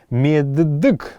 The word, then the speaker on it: меддык: Меддык будет, меддык произносится это в современном калмыцком языке.